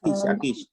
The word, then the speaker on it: Akic: I've got to agree with is it Brother Akic? I'm sorry if I pronounced that wrong. Akic, yeah.